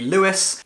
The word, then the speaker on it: Louis: called Lewis Lou Creed I say Louis Louie because the way his name is spelled in this book makes me a British person want to say Louie but this is an American novel and so I'm sure it's supposed to be Lewis interestingly halfway through this